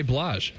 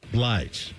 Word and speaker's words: Mary J. Blige: Wait, how do you I thought it was Mary J. Blah. Blige.